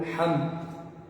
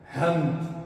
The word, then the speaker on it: hamd: Hamdun ou Hamd. A pessoa não vai pronunciar ela o que? Hamd. Hamd. Não é dessa forma. E sim com Ha.